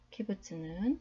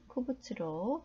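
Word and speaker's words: קבוץ: 카마츠는 카메츠로 불리기도 하고, 홀람은 홀렘으로, 키부츠는 쿠부츠로 불리기도 합니다.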